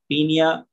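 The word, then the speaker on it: Paeonia: जेपोनिका, या इसको हम शॉर्ट फॉर्म में बोलते हैं पीनिया ओ साइलेंट, पीनिया जेपोनिका।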